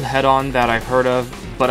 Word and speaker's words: Hedon: on hedaan yes it's pronounced head-on is a game that